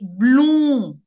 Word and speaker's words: blond: So, again, if someone has a yellow hair, we say, a boy, we say, il est blond. The D is silent.